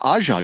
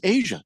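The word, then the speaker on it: A'ja: Who's the Aja girl? And they're like, no, it's Asia. Oh, okay. Yeah, Asia.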